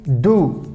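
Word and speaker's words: du: here you can see do d you how we pronounce do do do that means you so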